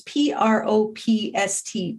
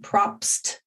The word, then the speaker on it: Propst: I always mispronounce his name. It's Propst, Propst.